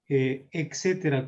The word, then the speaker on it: etcétera: Sí, Se escucha que algunos pronuncian etcétera con C y no con T, ¿no? Eso claro. habría que corregirlo en una clase, ciertamente, ¿no? No es el caso de este archifonema. Etcétera con una C, dices, claro, no, Así, ¿no?